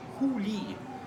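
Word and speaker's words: huli: One is a syllable hu on top, and one is a syllable li here on the bottom. Together they read hu li.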